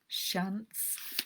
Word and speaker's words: Shiants: enough to inherit 3 islands called the Shiants. I think it might be Shants, might be the correct pronunciation, which are off the coast of Scotland, very close to Lewis.